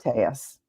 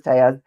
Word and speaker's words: Telles: pronouncing his name wrong because he in fact pronounces it tus which is Spanish pronunciation the Double L is